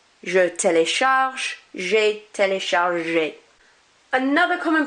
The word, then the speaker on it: téléchargé: I don't pronounce this one because there's no accent. I do pronounce this one because there is an accent. Télécharge, téléchargé. So that E accent is like an A sound.